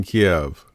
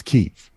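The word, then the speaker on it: Kyiv: i say that correctly not like chicken kiev that's incorrect it's keith i i said kiev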